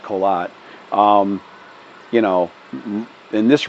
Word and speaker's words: Korat: colat is k o r a t but pronounced colat um you know in this region because it